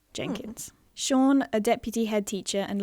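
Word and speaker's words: Siôn: his name is um his name is sean but it's written s-i-o-n which is the welsh welsh spelling of sean so i just tripped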